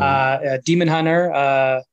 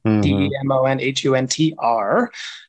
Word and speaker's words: DemonHuntr: DemonHuntr, singular, spelled, the hunter is spelled kind of like grinder or Tinder. So DemonHuntr.